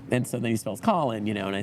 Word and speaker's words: Colin: so then you spells Colin you know and I said oh that's the problem see we would pronounce that colon you know and so